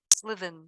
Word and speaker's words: SLV: And I just learned about what you guys are all doing with Selden. Is that how I pronounce it? Slivin, yeah.